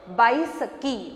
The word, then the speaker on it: Baisakhi: Pronounce it Baisakhi.